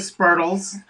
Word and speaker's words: Spurtle: it It's is Spurtle. Spurtle set. It's the same thing, like a turtle, official- but it's Spurtle.